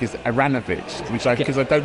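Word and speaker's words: Aaronovitch: and I found that if you pronounce it in the kind of vaguely fake Slavic way which is aranovich right people don't make any mistakes okay so I started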